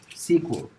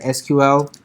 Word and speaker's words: SQL: the first thing is sequel SQL and this is pronounced as sequel okay you will see that's how a lot of people pronounce some of some people you will see calling it SQL this was a fine